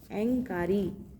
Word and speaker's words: ऐंकारी: कैसे पढ़ेंगे इसको, ऐंकारी, अ पे अनुस्वार है, ऐंकारी, ऐंकारी।